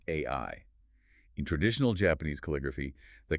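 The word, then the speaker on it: 愛: He looks at the Japanese kanji for love, which is pronounced ai.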